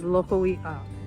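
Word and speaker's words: Lokoiʻa: We glide the vowels together and it's pronounced as Loko'i'a.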